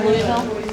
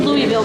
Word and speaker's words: Louisville: I said Louisville because that's not how you say it, but that's how you would understand it. Right, yeah. Louisville, if you live in Louisville, you lose all kinds of letters.